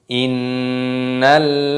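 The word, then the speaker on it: إِنَّ: Perhatikan di sini ada nun tasdid, hukumnya dibaca gunnah. Cara membacanya yaitu apa? Kita dengungkan. Inna.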